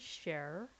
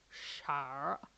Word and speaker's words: Char: Her name is Cher. Well, Char. It's pronounced as Char.